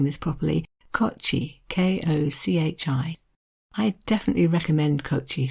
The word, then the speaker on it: Kochi: and it is and again i hope i'm pronouncing this properly kochi k-o-c-h-i i'd definitely recommend kochie says caroline as